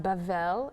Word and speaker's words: Babel: one land um babel babel pronounced bavel in hebrew is babylon the tower